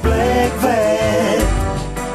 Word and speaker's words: Blegvad: then name of Peter bvat Peter black rhymes with eg b l e g v a